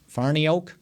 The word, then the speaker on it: Farniok: the the rookie that they signed uh fiocco farniak is how you say it farniak farniok matt farniok yeah so he's going to be